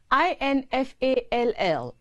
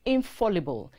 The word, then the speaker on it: infallible: or to lose balance and collapse or crumble i-n-f-a-l-l-i-b-l-e is not infallible it is infallible and means never failing incapable